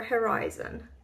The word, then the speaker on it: Herizon: Is it the right way of pronouncing it? Herizon or Herizon? Herizon. So it's like Horizon, but it is for her.